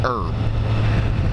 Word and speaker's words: herb: machine yeah it's a horrible Herbalife Herbalife herbal herbal life is where it's about herb bus pronounced herb I never understood that the word herb HERV